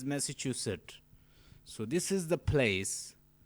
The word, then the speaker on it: Massachusetts: The pronunciation is Massachusetts.